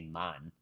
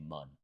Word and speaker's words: man: Because when I went to Jamaica, they don't say man, they say mun, right? Like MON, like Monday, the way you would pronounce that, that's how they say it.